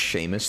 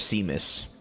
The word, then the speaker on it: Seamus: do it uh no it's not pronounced sheamus there'd be an h and an a and a y his name's seamus take this fuse it's